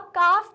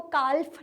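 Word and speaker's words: calf: अब काफ में भी हम लोग एल को प्रोनाउंस नहीं करते हैं। हम कभी भी उसको कालफ नहीं कहते। हम क्या कहते हैं? काफ। तो इसलिए इसमें एल साइलेंट है।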